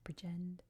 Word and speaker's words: Bridgend: I've heard it with the D dropped at the end. I've heard a more emphasis on the second syllable, Bridgend.